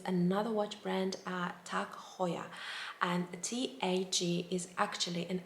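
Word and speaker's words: Heuer: so hoya uh is pronounced in a german way however i've heard people saying hoyer so like an english kind of way tak hoyer but the correct way would be tak hoya now the next name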